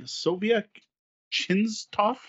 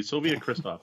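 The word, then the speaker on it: Sobiech Krzysztof: art by Inca brand Markus brand Sobiech Qin's Toph I apologize for my pronunciations and Franz Valle Winkle produce stuff first off yes it would be Soviet Kristoff thank you it was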